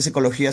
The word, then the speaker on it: psicología: Por esa psicología se escribe con P a pesar que no se pronuncia con P.